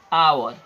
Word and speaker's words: hour: अब यहाँ थोड़ा ध्यान हम लोग देंगे कि आवर में जो एच है वो कंसोनेंट साउंड है, लेकिन यहाँ पर एच जो है वो पढ़ते समय साइलेंट हो जाता है। हम लोग क्या पढ़ते हैं, आवर।